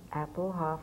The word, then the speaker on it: Appelhof: Again, the play is the thing, and today I have Ruth Appelhof with me.